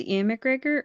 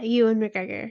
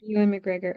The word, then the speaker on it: Ewan McGregor: you and McGregor yeah you and McGregor Ewan McGregor okay so I've been pronouncing his name wrong for like ever um I don't know